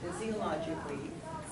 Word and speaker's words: physiologically: it eyes believe it or not this is pronounced although some smokers are fizz CEO logically so physiologically addicted to cigarettes others meaning other smokers suffer